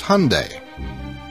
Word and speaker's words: Hyundai: gets your name right it's Hyundai like Sunday so that's what stuck that is what's in stone at least here in America and Great Britain will continue to say it differently than how we say it go figure and Hyundai